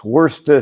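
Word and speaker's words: Worcestershire: I think the whole how do you pronounce Worester Shshire sauce right? And and the response was worester.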